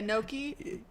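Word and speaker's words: gnocchi: like noi like noi because in Italian the word if you say the word Nai it means Walnut so not only you're mispronouncing this word but I will misunderstand you and I will think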